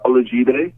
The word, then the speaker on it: Olajide: Now, Kasai, I have to ask you, how do you pronounce your birth name? Birth name, it's Olajide.